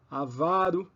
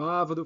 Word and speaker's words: avaro: pronúncia errada então é avaro e não avro filantropo e não filantropo